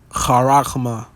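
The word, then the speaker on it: χάραγμα: So in the Strong's G 5480, it is charagma. Strong's G 5480, charagma. Charagma. Okay. That is the pronunciation.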